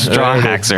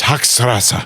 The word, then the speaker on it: Hochstrasser: Straw haxer. I don't feel bad now. Straw haxer. I'm trying so hard to say it right. Hang on. It's Hochstrasser.